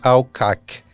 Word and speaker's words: Al-Qaq: do Reino Unido no Brasil, a embaixadora Stephanie Alcock.